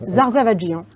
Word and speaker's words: Zarzavadjian: Alors c'est simple, ça se prononce, c'est très simple, toutes les lettres se prononcent, Zarzavadjian. Donc, je refais l'essai, je remets les lunettes et on recommence. Zarzavadjian.